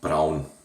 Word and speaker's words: Braun: Oh, by the way, a German company, and it's pronounced Braun.